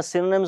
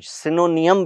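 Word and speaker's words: synonym: कुछ लोग इसे सिनोनियम भी पढ़ते हैं, जो कि नहीं पढ़ना चाहिए। इट्स सिनोनिम।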